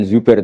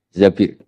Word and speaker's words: Zabir: Di hadis ini bukan bacanya bukan Zubair tapi Zabir. Abdurrahman bin Zabir.